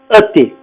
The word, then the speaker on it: et: Le lien copulatif ET. Par exemple, Emilio et Diana. D'accord? Vous voyez que le lien copulatif se prononce E.